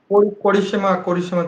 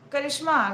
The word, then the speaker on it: Karishma: What did you say her name is? Korishima Chauhan. Karishma, right? Karishma.